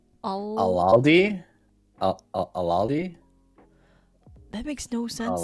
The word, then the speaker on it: Aldi: It's not my favorite experience, but Aldi's, where are you at?